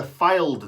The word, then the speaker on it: Fylde: That is how you say it. It's not Fylde, it's Fylde, isn't it?